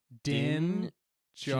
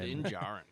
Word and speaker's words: Din Djarin: Din Djarin. Djarin. Din Djarin. There's a good spelling. That's a cool name. Din Djarin, yeah. The D is silent.